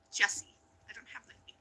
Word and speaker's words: Jessie: It's pronounced Jesse.